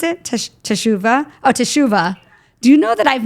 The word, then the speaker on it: Teshuva: Is that how you pronounce it? Teshuva? Oh, Teshuva.